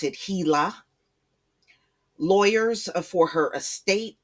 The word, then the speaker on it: HeLa: More than 100 corporations have profited from using the cell line named Henrietta Lacks, HeLa, or they pronounce it HeLa.